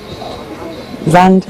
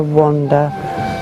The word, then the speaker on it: Vanda: And everybody gets my name wrong. Vanda they get wrong. I either get Amanda, Sandra, Brenda, Wanda, Veranda.